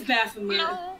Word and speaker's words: Baphomet: I thought it was Baphomet. I don't know how to pronounce it. Really. It's Baphomet.